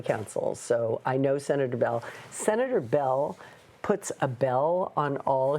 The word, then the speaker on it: Beall: I do I used to work for Senator Bell Bell when he was in the County Board of Supervisors and I was the County Council so I know senator Bell senator Bell Abell on all his mailings and